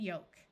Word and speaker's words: yoke: the p is silent two words follow this pattern with a long o and a silent L folk and yoke and two more common